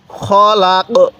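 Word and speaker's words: خلق: ক খলাক খলাক এখন যদি আমরা এখানে দম ছাড়ি তাহলে এই কফের উপর জবরটিকে বাদ দিয়ে দিব কিভাবে পড়বো খলাক খলাক তাহলে মিনারিমা খলাক এরকম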